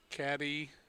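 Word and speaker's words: Cadie: And that is Caddy Berry, or Katie Berry, I think they would say. Probably Katie, yeah.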